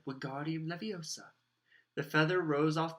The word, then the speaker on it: Wingardium: "Wingardium Leviosa!" he shouted, waving his long arms like a windmill. "You're saying it wrong," Harry heard Hermione snap. "It's Wingardium Leviosa. Make the gar nice and long."